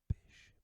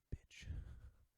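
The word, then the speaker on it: Bich: In the 40s, it says Bish, B-I-C-H, pen was changed to Bic, B-I-C, for fear that Americans would pronounce it bitch.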